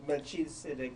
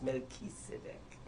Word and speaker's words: Melchizedek: I shouldn't be calling him Melchizedek when the pronunciation is Melchizedek.